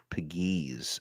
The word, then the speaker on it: Pegues: Is it JJ Pegues? Pegues.